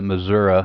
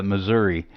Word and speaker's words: Missouri: Okay, yeah, I think back in my drinking days I pronounced it Missouri or some slurred version of that, but today Missouri.